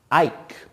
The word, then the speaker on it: Ike: Ike. I-K-E. That E is silent to make I say its name.